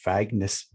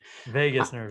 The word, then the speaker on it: vagus: mind-body connection via the vagueness fang i can never pronounce this word vagus nerve vegas vegas to see yeah i know i think las vegas okay las viva las